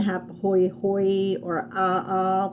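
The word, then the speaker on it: ʻaʻā: have hoi hoi or ah uh which is spelled a a but it's a ah in hawaiian but it would have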